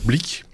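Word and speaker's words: Blick: Il y a pas de R mais ça se prononce blic.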